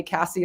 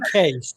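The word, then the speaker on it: Caisse: saying her name wrong Renee Cassie is what I call her everyone does it's Rene Case but yes Ren case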